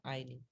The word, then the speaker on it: ironing: ठीक है, ironing, इसको ironing बोलते हैं, इसमें R साइलेंट होता है, ironing।